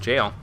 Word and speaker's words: gaol: so recently I learned the jail is still pronounced jail yeah I didn't actually know that myself until